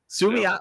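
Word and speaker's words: Suamataia: Suamiata or whatever? You nailed it, my friend. Sumiata.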